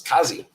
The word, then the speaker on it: Kazzy: Uh, to pronounce it, put a K in front of Aussie, then say it. Oh, so it's Kazzy.